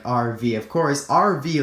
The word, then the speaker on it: Arvy: Of course, RV like A RV V Y is exactly RV like when it's pronounced.